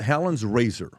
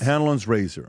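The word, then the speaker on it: Hanlon's razor: And it's called Helen's Razor. Okay? And I may be pronouncing it the wrong way.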